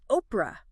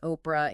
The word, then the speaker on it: Oprah: Oprah Uh-huh. isn't even her real name. What? Yeah, it's a mispronunciation of, get this, Orpah, O-R-P-A-H, Oh, wow.